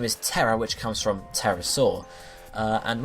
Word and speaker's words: pterosaur: Terra, which comes from pterosaur. And when you say pterosaur, you say pterosaur, okay? You actually say it with the A almost, even though it's spelled with the O.